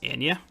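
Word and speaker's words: Anje: It's pronounced Anya. Is it? Anya?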